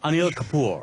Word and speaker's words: Anil Kapoor: Anil Kapoor.